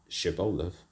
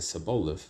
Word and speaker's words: Shibboleth: Then said they unto him, say now Shibboleth. And he said Saboleth, for he could not frame it, pronounce it.